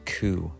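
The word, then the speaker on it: 九: the number nine is also unlucky it is pronounced cou and this is the same word for suffering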